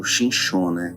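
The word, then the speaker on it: שמשון: Nós estamos aqui nessa passagem, relata aqui a história de Sansão, em hebraico, conhecido como Shinshon, pronúncia.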